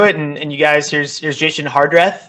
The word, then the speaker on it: Jason Hardrath: jump jump into it and you guys here's jason hardrath right is how you say his name it